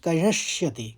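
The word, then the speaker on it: करिष्यति: का अनुस्वार किंग फिर करशति करिशति करिश बोलेंगे फिर शति बोल देंगे तो निग्रहक किंग करिशति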